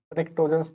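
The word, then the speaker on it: pnictogens: निक्टोजेंस, जिसकी स्पेलिंग शुरू होती है पी से। निक्टोजेंस नहीं, निक्टोजेंस।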